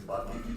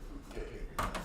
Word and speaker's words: Bucket: Their last name is Bucket, but she pronounces it Bouquet.